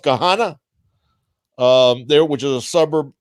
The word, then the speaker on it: Gahanna: I actually have an uncle that lives near you in I think it's pronounced Gahanna, there, which is a suburb of Columbus.